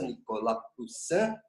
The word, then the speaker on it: Nicolas Poussin: Depois eu vou cobrar isso na aula de literatura, pronúncia francesa, Nicolas Poussin, Et in Arcadia Ego, ok?